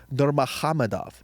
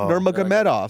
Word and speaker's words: Nurmagomedov: And he said Nurmagomedov. Wow, Nurmagomedov. It's not Nurmagomedov. So you don't even say the G's.